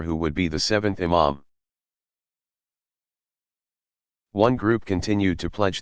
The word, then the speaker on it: imam: Among the principal features that distinguish Shi'i from Sunni tradition is the belief that a legitimate successor to leadership, called imam, pronounced imam, must be designated by his predecessor and belong to the family of the Prophet.